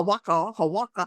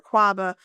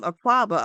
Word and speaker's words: Akwaaba: People still say, "Oh, waka, waka," and because they can't pronounce it.